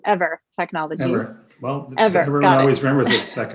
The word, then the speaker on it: Eivor: Yeah, we're pronounced ever as an energy forever. Everyone makes the same mistake.